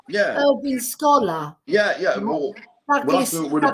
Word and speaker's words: Wale: I remember Sidney Well because my dad, he used to call him Sidney Wells, but he didn't come from Wales. He said his name wrong.